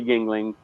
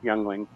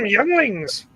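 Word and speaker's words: Yuengling: like you know like the Yingling sorry youngling I can't I can't let my American I can't let my American friends know that I pronounce that young Lings yeah so like like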